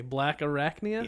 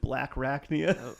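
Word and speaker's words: Blackarachnia: rack Nia nice so you gotta say it right the one only black Arachnia yeah I think he said black rakia it's black Nia black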